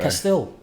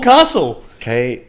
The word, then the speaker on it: Faber-Castell: Is it Faber-Castell or is it Faber-Castle? How do you even spell it, bro? Castell.